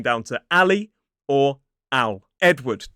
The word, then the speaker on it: Edward: Edward. 2 syllables, stress on the first. E-D. Ed. W-D. Edward. It looks like Edward, but it is Edward.